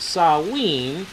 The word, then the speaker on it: Samhain: death or the Lord of the Dead on Samhain and in parentheses as emphasized over here pronounced saw ween as s LW w e n by Wickham's